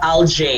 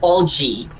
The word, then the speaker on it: algae: so minoshi number two it's all g not lj it's algae all right next is